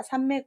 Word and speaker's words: 삼매: 또 다르게 말하진 않겠죠 밥은 3매 입니다 있자 로 하시면 만 미 낸 앞에 가 입구가 돼야 되자 그래서 3미리 아니라 3매 구요 불교에서 마음을 한 가지를